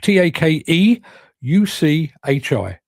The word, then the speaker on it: Takeuchi: It's take t a k e u c h i. Take u c h i. Takeuchi. That's how you spell it.